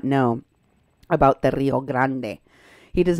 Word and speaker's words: Rio Grande: the Rio Grande so that leaves open an entire stretch of